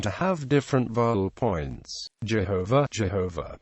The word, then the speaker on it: Jehovah: Other scholars believe that Jehovah is the correct pronunciation of the tetetrogrammatin which is pronounced as it is written.